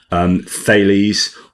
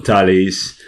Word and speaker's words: Thales: in Northern Ireland by Thales, or it depends how you pronounce it, whether it's English. It's a Greek name, Thales or Thales, depending on whether you're French or English.